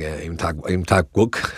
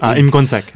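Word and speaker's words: Im Kwon-taek: So I like Kim Ki-young, and I like Im Tak-wook. Sorry, how do you pronounce it? Im Gon-tak.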